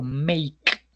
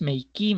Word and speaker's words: make: no siempre, por ejemplo, make, make, no es makei, make a makeo, make que makeu, no make, la e no suena.